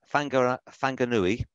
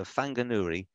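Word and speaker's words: Whanganui: So a book published in 1915, Fanganui, you pronounce WH as a sort of f sound. So Fanganui, Nuni.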